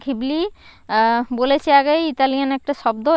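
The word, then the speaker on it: Ghibli: এই জিবলি গিবলি বা ঘিবলির আর ইসাও ওকাহাতা এবং তো সুজুকি গিবলি নামটি রাখা হ রাখা হয় একটি বিশেষার কারণে উচ্চারণের জিবলি বা গিবলি মূলত এটা ঘিবলি এই শব্দটি এসেছে ইতালিয়ান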